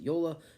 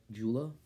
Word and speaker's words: Joola: some people pronounce it yola some people pronounce it jula either one is okay um you know you